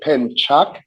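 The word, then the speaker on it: pencak: I'm sorry you said pen Chuck yes sir so the C is pronounced cha so if you don't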